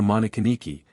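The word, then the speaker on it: Monikiniki: in the first line that of Nikki Niki or monin Niki as it is usually pronounced with the prefix of masculinity m o dash he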